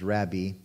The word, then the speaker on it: rabbi: and said unto him rabbi or actually technically it should be pronounced rabbi and he says we